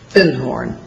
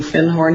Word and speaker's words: Findhorn: Because I'd found a book called The Magic of Findhorn. And he corrected my pronunciation. He said, you mean Findhorn?